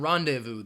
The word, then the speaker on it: rendezvous: night the there are two silent letters in rendezvous the Z and the S rendezvous with the Nome